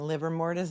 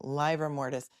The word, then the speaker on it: livor mortis: The ADA keeps saying liver mortis, and this witness keeps saying livor mortis.